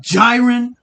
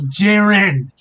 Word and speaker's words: Jiren: is how it's pronounced you've called jiren gyen multiple times to despite the anime and the manga despite both the sub and the dub of the anime saying jiren and you kept saying